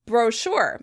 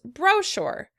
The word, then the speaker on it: brochure: In British English, this word would be pronounced brochure. Brochure. In American English, the word would be pronounced brochure. Brochure. As you can hear, once again, the stress is on the second syllable.